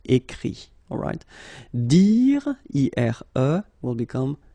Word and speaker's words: écrit: Okay, écrire, to write, will become écrit. Okay, remember that phonetically this final T doesn't exist. Okay, so the sound will be only this I, écrit.